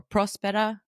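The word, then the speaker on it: Próspera: So he's the chief of staff of a startup city known as Prospera or Prospera. The accent's on the O.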